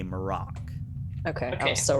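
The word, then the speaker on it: Mar'ock: how is his name spelt uh his name is spelt m r or m a r apostrophe o c k maroc okay okay so wrong i did m-i-r-a-k oh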